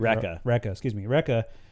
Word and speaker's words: Rekka: Yeah, so she takes them to the Lieutenant Raka and pronounce that correctly, right? Rekka, and tells him like, oh, he found a